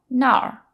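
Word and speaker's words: 哪儿: there it's gnarly or Nar not to be confused with Nar so they're very very similar both in pronunciation and in the characters na R is third tone and that means where Nar is fourth tone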